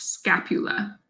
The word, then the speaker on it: scapula: is the scapula or the shoulder blade again pronounced scapula so the scapula is pointy like a blade